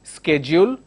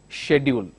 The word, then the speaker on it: schedule: American English pronounces this as schedule. British English pronounces this as schedule.